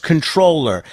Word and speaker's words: comptroller: It's interesting you go with the pronunciation of comproller saying the P rather than just controller. I'm sure that's one of the controversial issues that's dogged you over the years.